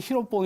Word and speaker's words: 히로뽕: 만든 지 필로폰 있어요 일본식 발음으로 1번지 히로뽕 이니까 보통 히로뽕 위로